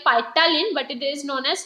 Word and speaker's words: ptyalin: It is spelling are like ptyalin, but it is known as ptyalin. P is silent.